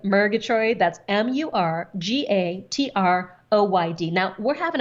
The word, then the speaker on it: Murgatroyd: I did, but the last name is actually phonetic. It's Murgatroyd.